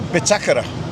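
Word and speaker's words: Bitácora: Believe it or not, the Bitakora. You've mentioned it many times. The Bitakora. The Bitakara. That's how you say it. The Bitakara, yeah, because it's got a little tick on the A.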